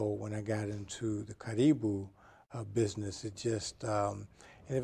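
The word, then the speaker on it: Karibu: Well, everyone says Caribou. The correct pronunciation is Caribou.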